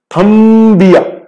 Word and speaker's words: थंबिया: एक थंबिया ऐसे बोला, थंबिया ई की बिल्कुल प्रोनाउंसिएशन आना चाहिए, ईया थंबिया, ठीक है।